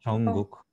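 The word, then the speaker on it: 정국: Имя Чонгук пишется Чонгук. Получается Джонгук, да? А не... Да, Чонгук.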